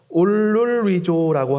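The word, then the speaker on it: ὀλολύζω: 여기서 통곡은 헬라어 발음으로 올룰리조라고 하는데 이걸 해석하면은 소리내어 울다, 울부짖다라는 뜻을 가지고 있습니다.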